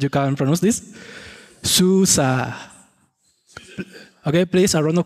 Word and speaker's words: SUSE: that your first how and now how to pronounce this war because it is a lot of confusion it is Susa I would like that you repeat with me